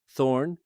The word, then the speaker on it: þ: Thorn, written þ, came instead from the older Germanic runic alphabet and was used interchangeably with eth.